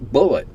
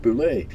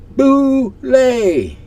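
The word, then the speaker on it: bulette: For 45 years, I've been pronouncing it like bullet. It's pronounced boulet. Yes, I know. When I published the damn thing in Dragon number 1 in July of 1976, it said right there in the write-up, boulet.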